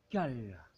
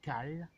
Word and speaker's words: kale: de mettre une variété de chou qui s'appelle cale alors ça s'écrit K a l e c'est une vieille